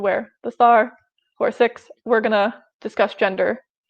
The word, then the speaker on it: Sikh: I'm also going to say Sikh instead of Sikh. Sikh is the correct phonetic pronunciation.